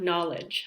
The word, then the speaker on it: knowledge: If you see a KN at the beginning of a word, like knitting, we do not pronounce the K. Same as know, like knowledge. I know this. I have a lot of knowledge. Those all have Ks at the beginning, but we do not pronounce it.